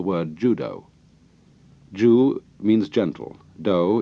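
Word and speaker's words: 道: Judo Jew means gentle do is the Japanese way of pronouncing Tao The Gentle Way so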